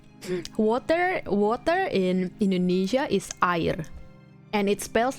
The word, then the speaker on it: air: Yeah, but you don't pronounce it as air. You pronounce it as air. Air. Okay? Air. So yeah, if you do get lost in Indonesia, you'll drink water and survive. Air. It's not air, but it spells the same.